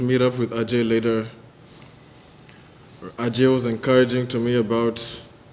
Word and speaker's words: Ajay: they janna eventually told me the pronoun correct pronunciation is ajay but if someone asked me like okay what